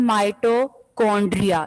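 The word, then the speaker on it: mitochondria: Next part आपका है माइटोकॉन्ड्रिया। इसको चोंड्रिया नहीं बोलना, मोस्टली स्टूडेंट्स इसको गलत प्रोनाउंस करते हैं। माइटोकॉन्ड्रिया है ये वर्ड, सी से आपने जो है के की साउंड बोलना है।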